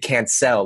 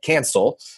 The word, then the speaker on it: Cancel: I think mainly because his name is actually pronounced David Cancel, like I can sell, but people Americanized his name and called it Cancel.